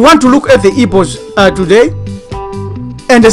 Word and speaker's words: Igbo: That's how you pronounce Igbo.